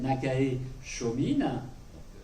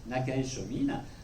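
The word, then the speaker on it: Nakae Chōmin: un écrivain japonais classique Naka Chomine. Je traduis, c'est pas le pronom, ça se prononce non plus. Nakaë Chomin euh qui est un écrivain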